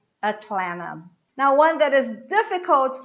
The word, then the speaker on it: Atlanta: fort lauderdale fort lauderdale atlanta atlanta the last tea is cut so what you say is atlanta atlanta now one that is